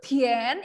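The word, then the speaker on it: 甜: Nah, kemudian ini bacanya itu Tian, ikuti Laoshi. Bacanya manis ya. Coba gula rasanya Tian ya.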